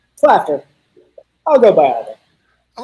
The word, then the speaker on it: Klafter: Am I pronouncing that right? Klafter.